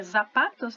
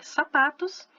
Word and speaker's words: zapatos: Até repetir o exemplo aqui, não tinha visto, mas o sapato tá escrito com Z, a gente pensa que é zapatos, né? Mas não é, é sapatos, ok? Zorro é a raposa, e também é aquele herói conhecido aí, famoso.